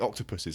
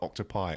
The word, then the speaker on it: octopuses: done it again now I made a point of saying octopuses in the octopi or octave octopodes or Hawk top a decent amount pronounced the weird version of that and I'm kind of surprised no one called me out on it well clearly our audience is just uneducated no clearly all this is educated enough educated enough to know that the correct pronunciation of octopus or a plural of octopus is in English octopuses because it's an English